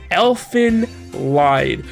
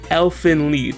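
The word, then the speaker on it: Elfen Lied: it's hard to get the subtle and difficult pronunciation here elephant lied which is actually pronounced elfin lead everybody this up i don't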